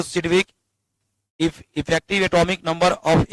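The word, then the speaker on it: Sidgwick: आई डी जी डब्ल्यू वाई सी के जी silent रहता है इसका कोई यूज़ नहीं होता है लेकिन पढ़ते हैं सिडविक according to सिडविक इफ ई एन इ एन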